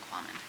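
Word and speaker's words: Kvammen: The V is silent, Quammen.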